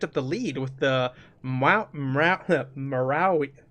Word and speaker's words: Maori: He has actually picked up the lead with the Marawi. How do you say that, Ben? Marawi? The Bloody Which Tongue one are we people. on? The Bloody Tongue people. Maori.